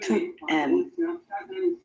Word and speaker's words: tu aimes: Tu aimes or tu aimes? Tu. Okay, so she's asked about the pronunciation of that first word.